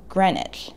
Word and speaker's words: Greenwich: name seems innocuous but beware of the silent letters pronounce it greenwich like the second e and the w aren't there again with the pesky